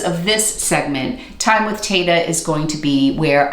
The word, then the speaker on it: Tata: It's spelled T-A-T-A, yes, like Tata. It is Italian, and if you are pronouncing it correctly, it is Tata, but we have Americanized it.